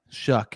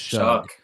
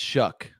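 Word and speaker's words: Shough: Shuck is how we pronounce it. I thought it was Shuck or Sh, but it's Shuck like all shucks.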